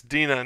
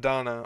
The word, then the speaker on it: Dina: All right, number 6, Dina, not Donna, or as I called her in season 2 PRs, Dinah.